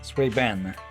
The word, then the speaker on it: Suibian: Okay, in this case, the second I is silent, it sounds like, huh? Sway Ben.